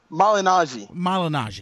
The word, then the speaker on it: Malignaggi: This whole thing involving, how do you pronounce Paul's last name? Malignaggi, because I don't want to mispronounce it.